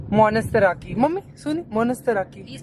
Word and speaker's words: Monastiraki: Monstraki. Monastiraki. Mummy सुनी? Monastiraki. He's pronouncing it like that.